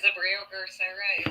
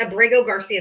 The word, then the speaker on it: Abrego Garcia: Well, then say his name right. It's Abrego Garcia. It's not hard.